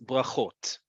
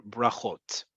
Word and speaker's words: brachot: And plural is brachot or brachot.